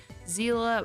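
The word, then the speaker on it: Seele: attack multiple times in a turn such as zela and I know her name in honkai style is pronounced Zila by herd and honkite impact that is pronounced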